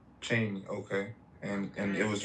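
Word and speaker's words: Cheyney: I believe that's what he was trying to pronounce. Yeah. Yeah. Yeah. It's called Cheney. Cheney.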